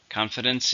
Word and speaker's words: confidence: Confidence is to feel strong or certain about something. It's an uncountable noun. How many syllables are in confidence? 3. Stresses on the first syllable.